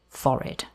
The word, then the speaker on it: forehead: Just a little side note here, the word forehead can also be pronounced foreid.